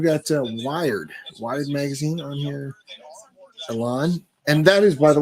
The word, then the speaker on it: Elon: It's not Elon. It's pronounced Elon.